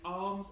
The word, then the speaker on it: alms: Not arms as in arms like you've got on the side of your body, okay? It's not arms, it's alms. I might pronounce it alms for some of this video, even though that is a completely incorrect pronunciation, just to get you guys in your head to make sure that you know it's spelled like that, giving alms.